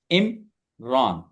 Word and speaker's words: Imran: लेकिन जब मैं इसको प्रोनाउंस करने जाता हूं तो मैं इस तरह करता हूं कि मैं पहले आई और एम, फिर RAN को पढ़ता हूं और इनको मिलाता हूं। इमरान।